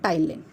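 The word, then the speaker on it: ptyalin: इसको दूसरे नाम से भी जानते हैं, टाइलिन. ठीक है, इसमें पी साइलेंट है.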